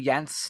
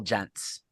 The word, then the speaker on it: Jentz: Do they call you Jentz, David Jentz, or still Jentz? They call me Jentz because that's actually Jentz is the American American, Anglicanized right. pronunciation.